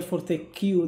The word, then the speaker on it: Fortesque: A ver, aquí con Fortesque hay muchas dudas, porque en español, claro, es Fortesque. En español. Pero en inglés, el que no existe, o sea, el que se pronunciaría Fortesque realmente. Entonces ya depende un poco el idioma, ¿no? Digamos que la forma oficial sería Fortescue, digamos.